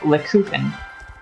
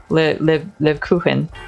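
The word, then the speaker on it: Lebkuchen: Because and it's pronounced Lekuchen. Lekuchen that's how you say it.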